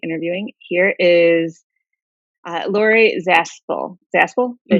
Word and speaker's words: Zaspel: Zaspel?